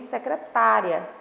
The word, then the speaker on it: secretária: Então, na primeira frase eu tenho secretária, na segunda frase eu tenho secretaria, tá? Então, a palavra aí da primeira frase, ela é pronunciada com mais intensidade na sílaba tá, tá?